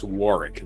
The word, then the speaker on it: Warwick: of Warwick in England or is it Warick I think it's Warick they don't pronounce that second W war correct me if